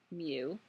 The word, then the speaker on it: mu: say it should you it's not you it's mu it's the Greek letter mu unless this is the